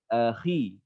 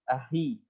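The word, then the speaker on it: أخي: Akhi. Ya. Khi. Ya. Pelafalan huruf kho pun harus tepat. Ya. Kayak misalnya untuk menyebut misalnya ahi. Ahi. Kan nggak seperti itu pelafalan ahi.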